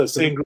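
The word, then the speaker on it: Sangerye: have asked this off air how do you pronounce the family's name is it saying gary yeah yeah it's a sangria it's uh it's like a creole it sounds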